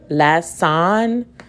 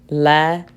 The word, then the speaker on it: lesson: The first syllable is less. Now the second one, son, less son. That sounds weird. Let me try the schwa sound. Lesson, son, lesson, lesson. So I know this makes